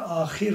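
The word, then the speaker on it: آخر: Yazılışları aynı. Burada ahur kelimesinin ahur vavla yazılmış şekli de vardır. Ama bazen de kısaltılarak vavsız da yazılır ama ahur okunur. Öbür kelime ise ahir okunur.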